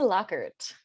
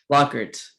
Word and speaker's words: Lockert: to welcome her her name is uh lockett and am i pronouncing your last name right lockert lockert it's an r yeah just like phonetic locker